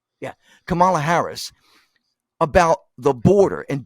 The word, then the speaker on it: Kamala: Kamala Harris did I say it right yeah Camala Harris about the border and do you know